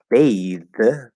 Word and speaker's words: bathe: verb which is to bathe okay spelled with an e at the end the vowel changes from a to a and the th turns into a voiced th um there are certain